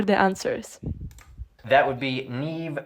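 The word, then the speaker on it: Niamh: That would be Neve, Siobhan, and Kiva.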